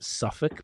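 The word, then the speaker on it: Southwark: So that was this one was in an area called they pronounce it suffk but it's south south w a r k.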